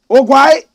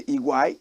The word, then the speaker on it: Oguaa: OGUAA. They say Iguai, correct pronunciation, Iguai, but we say OGUAA. Correct pronunciation, Iguai. Some people say OGUAA.